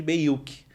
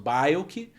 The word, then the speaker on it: Bayuk: gostei, me chamam de Beyuk, que é bem longe de como se pronuncia o meu nome, na verdade, né? Eu sou Bayuk, e aí chamam de Beyuk, chamam de tudo quanto é coisa.